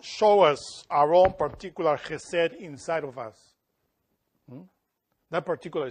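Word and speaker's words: חסד: Mercy is chesed. This is how you say it in Hebrew. Chesed.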